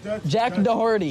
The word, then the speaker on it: Doherty: Wait, how do you say his name? Jack Doherty. Jack Doherty. Yeah. Dirty. Jack Doherty. Jack Dirty. Jack Dirty. Jack Dirty. Yeah, it doesn't have an H in it.